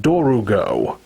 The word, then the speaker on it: Dorgo: source I've looked up, the official English spelling of the name for this monster is Dorgo. But in the dub, it's pronounced Dorugo. So they add that extra syllable in the middle.